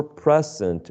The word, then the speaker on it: present: in the next column present for present what do you think present first process first excellent first syllable in the next one